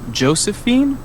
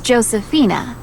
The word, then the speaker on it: Josefina: just check this information is your first name josephine actually it's josefina it's spelled j o s e f i n a okay thanks and you're